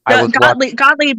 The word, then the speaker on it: Gottlieb: the writers, like Carl Gottlieb. I don't know if I'm butchering his name wrong. Specifically, they brought him on specifically to make it funnier. Because Gottlieb is the correct pronunciation, so you're good.